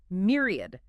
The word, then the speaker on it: myriad: Myriad. M-Y-R-R-A-D, pronunciation. Myriad. Stress on the first syllable. 3 syllables.